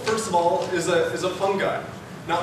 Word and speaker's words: fungi: So mold, first of all, is a fungi. Now I'm going to say fungi, but it's properly pronounced fungi. It just sounds weird and ridiculous, so I'm just going to keep going on with fungi.